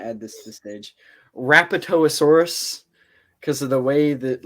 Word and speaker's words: Rapetosaurus: it's so I also looked up how to pronounce his name and it's rapetosaurus and I was like oh thank God okay